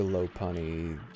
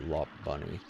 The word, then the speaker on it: Lopunny: Batman it could have been the the Joker lopunny got a little bunny he pronounces a good I don't know about what like the actual pronunciation is supposed to be but I always remember calling it lop bunny La Pony I don't know why I did